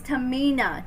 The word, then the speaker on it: Tehmeena: It's Tehmeena, not Tehmeena or whatever, however I was saying it.